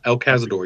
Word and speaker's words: El Cazador: El Cazador, yeah.